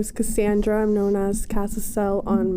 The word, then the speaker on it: Cassandra: username is casel casel but my name is Cassandra Cassandra okay perfect so Cassandra first we're just